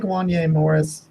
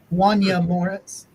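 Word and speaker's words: Wanya Morris: uh yeah I like Wanye Morris did you know that that it's pronounced with an e Wanya Moritz he's named after the uh The Boys to Men artist no yeah he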